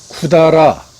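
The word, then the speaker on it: 百済: 일본 역사서인 고사기나 일본서기에 실린 그 백제의 음독은 샤쿠사이가 맞지만은 대개는 쿠다라라는 라는 그 훈독으로 읽는데 이 발음은 대체 어디서 온 것이냐?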